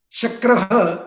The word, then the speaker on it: Shakra: Shakra is a name for Indra. Shakra, there are two syllables in it. We should read it as Sha.Kra.